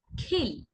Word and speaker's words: খিল: দেখুন উচ্চারণ কি হবে, কিল। কিল লেখা হয়েছে অল্পপ্রাণ ক দিয়ে, তাই আমরা কম জোর দিয়ে উচ্চারণ করবো, অর্থাৎ বাতাসের জোরটা কম থাকবে। কিল, খিল, খিল লেখা আবার খ দিয়ে, কিল, খিল।